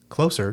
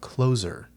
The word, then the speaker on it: Closer: pronunciation of that, of whether it's closer, to be near, close to, or closer, like an ending.